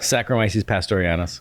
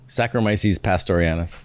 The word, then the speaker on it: Saccharomyces pastorianus: Saccharomyces pastorianus.